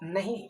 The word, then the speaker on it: know: और भी कुछ वर्ड है जैसे KNOW, इसको हम लोग क्या पढ़ते हैं, कनो? नहीं, इसको हम लोग पढ़ते हैं नो, ठीक है।